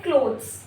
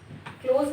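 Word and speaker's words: clothes: फिर हम बोलते हैं क्लोथ्स, क्लोथ्स बोलना है इसको, क्लोथ्स, क्लोथ्स। टी एच की हल्की सी आवाज आएगी बस, क्लोज नहीं, क्लोथ्स, क्लोथ्स।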